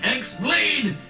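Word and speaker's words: χ-blade: yeah it means the x blade it's just pronounced like keyblade even though it's just one keyblade ah the series is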